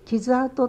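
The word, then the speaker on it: 傷跡: 戦火の傷跡という、傷跡と読みます、戦火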